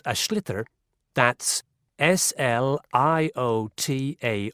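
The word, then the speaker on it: sliotar: get this ball called ash litter that's SL I OT a or so it's not spelled the way it's pronounced you hideous into the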